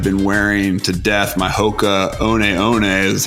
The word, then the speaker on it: Hoka One One: brand i'm have been wearing to death my hoka oneeone that's how you pronounce it not hoka one one pocahone ones flip flops or zories and they're